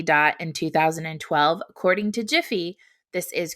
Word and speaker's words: GIF: there are plenty of gifs that pay tribute to their inventor perhaps even better you can heed his unequivocal advice and pronounce it jiff instead of gif that is friday's edition